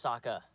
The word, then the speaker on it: Sokka: My name's Sokka. Rhymes with Waka Waka.